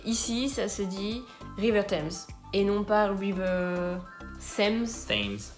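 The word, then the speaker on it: Thames: qu'il passe partout donc en anglais ça se dit times même si ça s'écrit th et surtout on dira toujours river times et non pas times river voilà exactement ce qui serait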